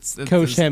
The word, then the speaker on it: Koch-Chemie: Koch-Chemie. That was good. That's how you say it. Koch-Chemie.